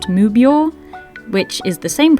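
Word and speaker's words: 無病: The kanji here, meaning six cats, is pronounced mubyo, which is the same pronunciation of these kanji, which means no sickness.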